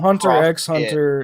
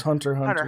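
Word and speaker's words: Hunter × Hunter: Uh yeah, typically typically in these things you don't pronounce the X because it's because it's crossing over. It's not hunter X hunter. It's it's hunter hunter hunter hunter hunter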